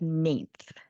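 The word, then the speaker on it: Nainthe: Oh, so I pronounce it as ninth.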